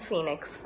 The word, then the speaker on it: Fenix: Justice for Jayaraj and Phoenix, and that's spelled F-E-N-I-X.